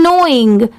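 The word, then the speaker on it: knowing: क्या हो जाएगा स्माइल्ड यह है नोइंग यहां पर एन ओ डब्लू आई एन जी सिर्फ इतने की साउंड आ रही है मतलब सिर्फ इतना ही प्रोनाउंस किया जाता है बट लिखते टाइम के भी ऐड करते हैं यहां पर प्रोनाउंस करते टाइम लेटर के साइलेंट होता है अगर आपको यह जानना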